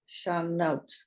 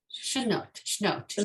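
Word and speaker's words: שנות: Sibian, Tikvatenu, Hatikva, Bat Shanot. Shnot, yes. It's Shnot. really, yeah, Shnot, Shnot. perfect.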